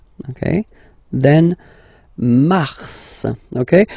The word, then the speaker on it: mars: it f okay then Mar okay so in a way it's an exception because normally final s is not pronounced in French okay we've got some exceptions and this one is one of them so Mar pronounce the